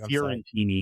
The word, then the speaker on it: Fiorentini: Sorry, Fiorentini, I can never pronounce the name right. Fiorentini. There you go.